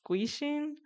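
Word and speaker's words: 귀신: So basically, in the film, there's like these spirits, or I'm gonna butcher this, but I think it's pronounced guishin, or spirits in Korean folklore, or humans who have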